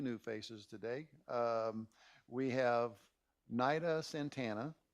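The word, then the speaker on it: Nayda: We have Nida Santana, it's spelled N-A-Y-D-A.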